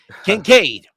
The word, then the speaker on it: Kincaid: Kincaid, right? I'm gonna need financial aid, right? Kincaid.